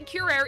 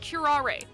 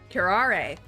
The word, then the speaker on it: curare: we did last week and apparently we were pronouncing curaire entirely wrong it's pronounced curare karare and uh actually she told me of two